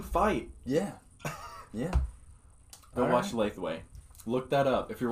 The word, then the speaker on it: Lethwei: Go watch Lathway. Look that up. If you're watching this podcast right now, look up Lathway. Yeah. It's Lethwei.